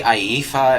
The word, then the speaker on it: Iifa: Because I played Final Fantasy VII, that was Tifa, this is an I instead. It might be Iifa, it might be Iifa.